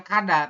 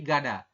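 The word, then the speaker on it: 가다: robun seperti itu ya Kenapa dibacanya gada karena g-nya di awal maka kita Bacanya adalah G bukan k ya bukan kada tapi gada kada seperti itu ya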